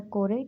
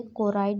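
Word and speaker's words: choroid: पहला होता है स्क्लेरा, दूसरा होता है कोरेट या फिर हमें इसे कोराइड भी प्रोनाउंस कर सकते हैं, तीसरा होता है रेटिना।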